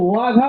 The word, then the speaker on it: ওয়াঘা: অবশ্যই সেটা বাঘা নয়, এটা হচ্ছে ওয়াঘা বর্ডার। 8 নম্বর দলের জন্য একটু জোরদার হাতের তালি। এটা হচ্ছে +5, 8 নম্বর দল +5। এটা বাঘা নয়, এটা হচ্ছে ওয়াঘা।